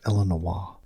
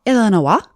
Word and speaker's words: Illinois: I'm pretty sure it's pronounced Illinois. Illinois.